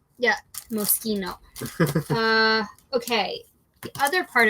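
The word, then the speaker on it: Moschino: in right now uh this brand just so we're all clear is pronounced mosino and we're going to get better at that not like the Cherry yeah mosino uh okay the other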